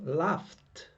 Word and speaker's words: laughed: sniffed sniffed ok laugh now final sound is an f remember we are not interested in the final letters we are interested in the final sound and the final sound is laugh laughs laughing laughed laughed final sound f pronounced